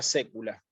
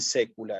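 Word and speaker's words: saecula: cuando hay ae esto esta palabra la voy a separar en sílaba el siguiente modo SAE esto es un diptongo si no lo leo como diptongo si no lo leo como un diptongo propiamente porque estoy leyendo la tiene iglesiastico debería Separar en sílabas sa e u la Pero no es así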